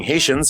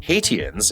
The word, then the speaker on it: Haitians: down she felt that mispronouncing Haitians as haitiens is something shar's Dy